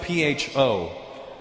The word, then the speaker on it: pho: It's spelled P-H-O. Pho. But it's not the way it's pronounced.